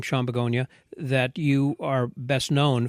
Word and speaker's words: Bogunia: Everyone says Bogunia, like Sean flower, Bogunia, like the flower, but in all reality, it's Bogunia. Okay.